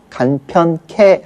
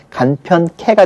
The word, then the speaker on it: 간편케: 들어서 간편하게 우리가 줄여서 간편케 발음을 합니다 이때는 하가 완전히 주는 것이 아니라 하에서 아만 줄은 거죠 그러니까 편 개 개가 케로 발음이 되는 거예요 그래서 간편 케가 되는 거고요 연구하도록의 경우에도